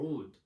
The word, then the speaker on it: oud: instrument itself the system is called wood or how we pronounce it in arabic or wood when it traveled to